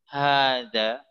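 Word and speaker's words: هذا: ini saja jazakillah Khoir Jadi mohon perhatikan tentang Ha harokatnya Enggak berdiri sejak masalah walaupun membacanya dipanjangkan Haza karena Emang di situ ada huruf alif yang tidak ditulis tapi terucapkan dengan panjang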